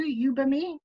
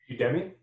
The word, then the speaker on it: Udemy: in the States too, Ubimi, do you have that? It's online courses. Udemy? Yes, yeah. Okay. I said it wrong.